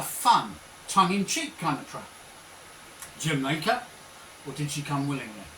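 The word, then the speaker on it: D'yer Mak'er: Led Zeppelin recorded a song called, if I say it phonetically and then say it how it's meant to sound, right? Phonetically it's De Je Mak E. It basically was Jamaica or Jamaica.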